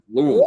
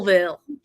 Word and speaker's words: Louisville: When I used to intern there during the summers, the people would tell me I was saying Louisville too fast. Like, oh, you slow it down. Slow it down. It's Louisville. Louisville.